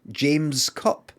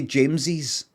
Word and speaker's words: James's: Is that just like James Cup? No, you say James's.